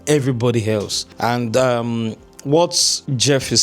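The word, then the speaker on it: Geoff: What really separate worldclass performers from everybody else by GeFel pronounced G E O F co Jeff G E O FF.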